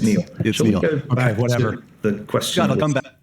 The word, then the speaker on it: Niall: Nile. Shall we? Uh, it's pronounced Neil.